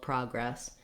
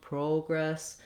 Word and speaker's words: progress: Typically, letter O is going to say the ah sound. This is the symbol in the dictionary that you'll see when it's in a stressed syllable. So often I hear people say more of an O sound or an O sound, progress. In other dialects of English, you can say progress with an O.